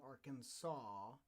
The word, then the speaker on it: Arkansas: because i was from arkansas which is spelled the same way as our kansas but for some reason arkansas uh they leave that s off the back end of that so so there's that